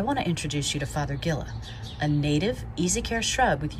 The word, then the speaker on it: Fothergilla: So it's pronounced like Fothergilla. Think of the word father, plus the word gill, like what's on a fish, and the well, that